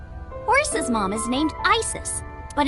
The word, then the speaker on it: Isis: horse's mom is named isis but in ancient egyptian it's pronounced closer to isa or asa hmm how do